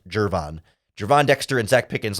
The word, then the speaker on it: Gervon: and important no it's jervon it's pronounced with a J even though it's spelled with a G people who say gurvan are wrong it's pronounced jervon Javon Dexter and Zach